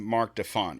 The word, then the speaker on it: Marc Defant: So I pronounced your name Mark Deont.